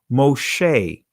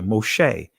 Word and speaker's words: Moshe: here hebrew name is a sheen right so moshe right that's how it's pronounced here moshe right in the egyptian verb right still dealing